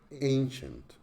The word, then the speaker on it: ancient: okay the second word Ancient Ancient is a two-syllable word with the stress on the first syllable in in strong and clear aim and the second sea level is weaker soft shun shun so we say Ancient